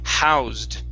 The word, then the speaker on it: housed: we have over here the word housed with the d sound at the end housed housed very nice